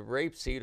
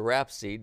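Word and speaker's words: rapeseed: a a thing called the rape seed or wrap seed depending on how you want to pronounce it and it was never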